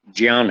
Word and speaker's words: ज्ञान: हिंदी सामान्य भाषा में ज्ञान बोलते हैं गुजरात के लोग निर्णय यह इस तरह से बोलते हैं हम उसको हिंदी संस्कृत में संस्कृत में उसका उच्चारण जियान है तो मैं ज्ञान बोलूं